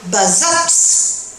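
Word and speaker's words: Bazas: ont donné par exemple Bazat le T se prononce toujours mais attention quand je viens vers le sud-ouest, qu'est-ce que vous remarquez là ?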